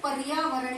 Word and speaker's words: पर्यावरण: वहीं आगे आया है रे, क्योंकि बच्चों पर्यावरण में उच्चारण करते समय हम देखते हैं कि य से पहले आवाज आती है र की, पर्यावरण।